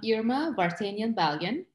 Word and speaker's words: Irma Vartanian Balian: it better than i can and start with pronouncing your name so that our audience gets it right okay uh um irma vartanian balian i was born in lebanon i was raised